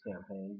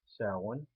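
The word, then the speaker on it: Samhain: be salon mini like mispronounce it by saying champagne but it is pronounced salon celebrated on october 31st commonly known as halloween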